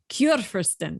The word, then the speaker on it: Churfirsten: So we generally kick off with this first question, which is can you pronounce this for us so that they know that I'm butchering it one more time. Churfirsten.